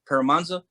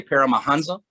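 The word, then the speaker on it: Paramahansa: autobiography of a yogi paramanza yogananza yogananda and it has an h in paramonza but the h is silent so a lot of people say paramahanza but his paramanda yogananda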